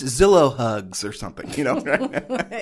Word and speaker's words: Zillow: I know after all it rhymes with pillow yes that's right Julie